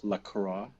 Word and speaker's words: LaCroix: it pronounce that right there are two ways of saying it many people who are fancy like to use the french way to go with lacroix and then there is